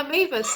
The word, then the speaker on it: Mavis: And I also like your presentation, and also for the question from Mavis, if I say it right. And because we Maeve. Yeah, Mavis, that's correct.